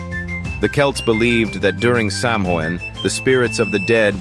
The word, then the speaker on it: Samhain: Halloween, as we know it today, has evolved from a much older festival called Samhain, pronounced Samhain.